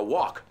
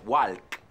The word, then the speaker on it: walk: I go for a walk. Cuidado con la pronunciación, no es walk, it's walk. La L no se pronuncia.